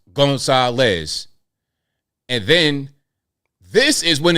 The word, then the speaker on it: Gonzalez: They spell it GON-SAH-LES. Gonzalez.